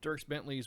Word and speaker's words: Dierks Bentley: Yeah, so hats off to you, am I pronouncing that right? Dierks Bentley's Whiskey Row in Gilbert, Arizona.